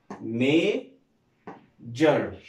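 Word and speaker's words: measure: عندنا بعد كده اس يو ار اي، اس يو ار اي بيتنطقهم جر، الاس يو ار اي بيتنطقهم ايه؟ جر. ها مين يحاول يقرا بقى الكلمه ديت؟ ها برافو، مي، بعد كده اقول ايه؟ جر. ها مي جر، ميجر، كلمه ميجر بمعنى يقيس.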